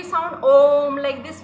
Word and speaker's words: ओम: this we do fine so हाउ we pronounce ओम like in humming sound we will do that